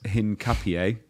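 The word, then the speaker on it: Hincapié: got uh hang on to say it right Hinn Capier there you go got it That was for Indie who butchered me for saying it wrong on Wednesday.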